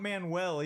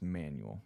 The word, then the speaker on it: Manuel: Daniel Manuel it's not Manuel either that was my first that's my brother-in-law's name is Manuel yeah see that was my first thoughts like Manuel right and he's like no it's pronounced manual it's Daniel manual is